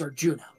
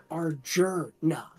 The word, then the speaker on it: Arjuna: There is no S second R. It is Arjuna. Yeah. I didn't know that. I was doing Arjuna. A-R-J-U-R-N-A.